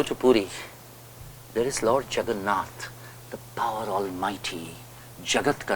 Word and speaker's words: Jagannath: They wrote back in a letter to England, I saw Jagannath, but they could not pronounce it properly.